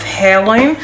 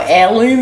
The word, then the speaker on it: Heirloom: had from off of hairloom or heirloom as people keep telling me to say i do find it